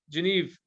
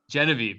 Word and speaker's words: Genevieve: wrap up if anyone doesn't have anything else geneve is that how do you say your name jen say your name for me it's genevieve genevieve okay what else do you have do you